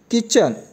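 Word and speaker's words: kitchen: के आईएमजी राजा और किचन किचन में पति साइलेंट होता है किचन बावर्ची खाना ए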